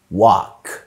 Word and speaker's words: walk: كمان ال بتبقى silent لما بتبقى جاية ما بين الاي وما بين الكي بمنتهى البساطة في كلمات زي walk، كمان talk.